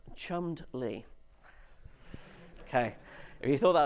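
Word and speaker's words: Cholmondeley: The second word is pronounced chummed lee.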